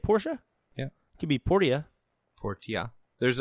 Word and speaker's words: Portia: for switch this year my time at Porsche is how you say it Porsche yeah QB Portilla Portilla